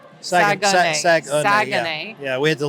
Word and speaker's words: Saguenay: Saguenay. Saguenay. Yeah, we had to learn how to pronounce it correctly.